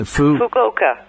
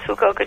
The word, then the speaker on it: Fukuoka: Fukuoka. Fukuoka. Fukuoka. Yes. As opposed to fuck you. So, yes, Fukuoka, Japan.